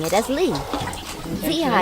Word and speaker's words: 子: Zi is a bit harder. It's pronounced like the last part of C's. It can have the third tone or no tone at all, depending on how fast you say it.